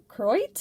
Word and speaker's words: Koroit: In Australia, that particular area where this opal is found, it's typically pronounced Koroit. I'm probably butchering that myself, but they kind of skip over the O, which is really neat.